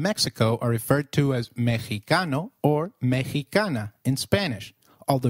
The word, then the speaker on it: mexicano: at them in detail did you notice that the x in mexicano is pronounced as h while x is usually pronounced as x inflexible it is pronounced as a throaty h in the words mexico mexicano and oaxaca which is a state in mexico so can you try